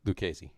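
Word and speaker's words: Lucchesi: for the message uh luchacy pronounced luke lucasy hello joey lucasy throwing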